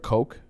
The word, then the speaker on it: Koch: republican parties okay so the coach that's how it's pronounced co i'm sorry k o c h koch it's not cautious it's not billy gosh it's coke and then blackstone and